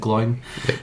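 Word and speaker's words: Glóin: So, they're at Rivendell and uh they're speaking to to Glowen or Gloin. I'm never really sure. I think you're meant to pronounce it glowin, but I always pronounce it glowing.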